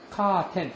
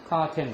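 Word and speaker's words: カーテン: 카텐. 일본식으로 발음하면 카텐 데스.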